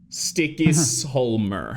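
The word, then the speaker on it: Stykkishólmur: I mean like even like Reykjavik it's called sticky solmer how do you spell that s-t-y-k-k-i-s-h-o-l-m-u-r got it this is riveting content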